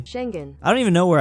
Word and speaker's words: Schengen: Yes, I finally figured out how to pronounce that correctly. Schengen.